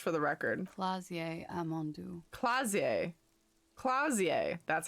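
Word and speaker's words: Klaasje: name miss just for the record flazier ammondu clausier clausier that's how you say it where are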